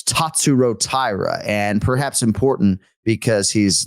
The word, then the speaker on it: Tatsuro Taira: my name is tat Tyra my name is tatsuro Tyra tatsuro tat right so I've been saying tatsuro